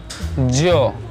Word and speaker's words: yo: start pronounce in Spanish in Spanish I IV say Jo Jo is why oh but we cannot say you but we say Jo Jo Jo and Nexus